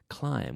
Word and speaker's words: climb: Climb. With a silent B. Climb. Cerrando la boca. Closing your mouth with that M, because it's an M sound.